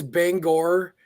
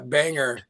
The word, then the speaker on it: Bangor: for most folks okay is is is Bangor the pronunciation for maters or is it a banger which is what I